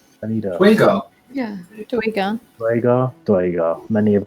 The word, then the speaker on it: Duergar: How do you pronounce it? It's Duergar. I need a Dwagar.